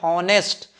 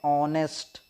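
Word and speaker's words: honest: हाँ, जितनों भी ने पढ़ा है हॉनेस्ट, भाई साहब आपका गलत है। हॉनेस्ट नहीं पढ़ते, एच साइलेंट रहता है, इसको हम क्या पढ़ते हैं? ऑनेस्ट।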